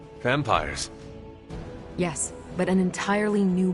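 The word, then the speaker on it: vampyres: The new breed I'm tracking are uh they're vampires. I see. No, I do not. You already said they were vampires. Vampires with a Y, pronounced exactly the same as vampires.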